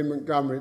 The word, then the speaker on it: Montgomery: in its proper context I pronounced it by the way Montgomery because that's how the family pronounced it it's a Scottish family and I believe also the great field marshal pronounce it that way so forgive me if you don't like it but that's how mrs. Montgomery pronounced her name the decision in that